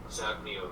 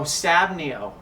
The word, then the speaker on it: SabNeo: SabNeo V8. Oh, SabNeo. I'm sorry, I was mispronouncing it.